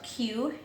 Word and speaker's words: quinoa: And while quinoa is pronounced a little different than it looks, it's actually spelled Q-U-I-N-O-A. It's pronounced with a K, K-E-E-N-W-A, quinoa. Quinoa actually looks like this.